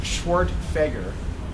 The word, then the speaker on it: Schwerdtfeger: My name is pronounced Schwerdtfeger, so I should have run for governor, but I missed my chance.